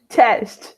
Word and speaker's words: Cześć: Cześć.